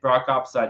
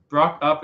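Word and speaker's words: Brockupside: I'm just saying, Brock Upside, you have the most epic voice on YouTube. Brock Up is the proper pronunciation, but you're good. Everyone gets it wrong.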